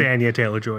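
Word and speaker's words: Anya Taylor-Joy: when that comes around Anya Taylor and joy is going to play uh peach or is it Anya Anya Taylor whatever you actually say her name it's Ania Taylor Joy yeah uh one that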